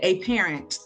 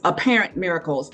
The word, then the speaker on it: Apparent Miracles: And when I was reading the name of it, you said A Parent, it's Apparent Miracles. And I said, wait, I said it wrong again. Hold on, where'd you put the emphasis? Apparent Miracle. Apparent, yes.